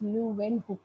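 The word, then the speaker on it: Leeuwenhoek: और उनका full name था एंटन वॉन लुवेन हुक, है ना, प्रोनाउंस लुवेन हुक, राइट।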